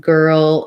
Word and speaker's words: girl: to think about that both girl and world have the er sound so thinking about er and then g o and were old um so for they're one syllable words but kind of breaking it up and stretching out your earl is going to help you for both of those words okay last word last